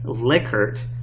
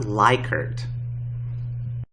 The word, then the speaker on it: Likert: Likert scales are ordinal scales, And yes, to answer one of those burning questions researchers often have, it's pronounced Likert, not Likert.